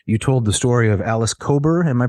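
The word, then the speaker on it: Alice Kober: that the way you told the story of Alice cobber am I pronouncing her name correctly yes yes the story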